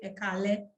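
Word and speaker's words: Ẹ káalẹ́: So for good evening, I would say Ekale.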